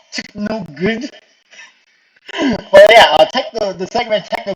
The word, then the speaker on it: TKNOGD: So, yeah, it's so technically it's pronounced Techno Good.